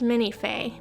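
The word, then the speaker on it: Minifée: You know, I think it's actually pronounced Minifee because of the accent over the one E, but I've never heard anyone say that.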